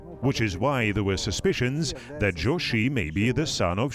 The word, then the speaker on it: Jochi: Jochi is a modern pronunciation of the name. In the 13th century, it may have sounded like Chuchi.